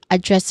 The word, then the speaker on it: address: When it comes to pronunciation, we start with address which has two syllables. We stress on the second syllable here. The first syllable is awa sound. So it's is it is a soft a sound. And then the second syllable is dress. dress which has a short e vowel sound and a hing sound at the end. So that's dress.